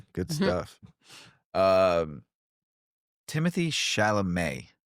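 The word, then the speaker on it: Timothée Chalamet: Um, Timothy Shalamé, that's how you pronounce his name, right?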